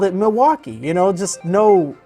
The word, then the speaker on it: Milwaukee: know the city but I've always all my life called it Milwaukee Milwaukee and never with any L so it's like it's I heard it as Milwaukee Milwaukee I'm like Milwaukee what and I mean I know that the L is there I'm gonna name this